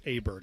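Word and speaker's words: Åberg: big golf fan and I didn't realize it's Aberg, but it it doesn't look like that.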